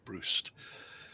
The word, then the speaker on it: Brust: I like Stephen Brust. Or Brust. Let me say it right, Brust.